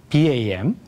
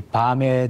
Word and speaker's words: BAM: 네, BAM 또는 밤 또는 BAM이라고 발음하는 이 내용은 비즈니스 에즈 미션이라는 약자입니다. 그것을 BAM이라고 미국 사람들이 발음하는데 또 다른 분들은 밤이라는 표현도 쓰고 있죠.